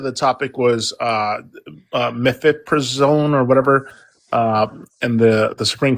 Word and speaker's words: mifepristone: someone said the topic was mifepristone or whatever, and the Supreme Court's ruling. Is that what it is, or I just want to make sure I'm on topic. Yeah. Yeah. Methylpristone.